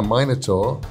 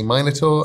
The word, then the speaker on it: minotaur: Crimson Soul 21 says, if I asked nicely, could I ride a minotaur like a horse? I'm English, I say minotaur, Americans say minotaur, it's weird to me.